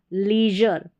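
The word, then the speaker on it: leisure: Next देखें, यहाँ पर कुछ और स्पेलिंग्स है, जैसे यहाँ पर है XEX को एक्सपोजर, ये है LEI, इसको ली पढ़ेंगे, EI को E, लीजर।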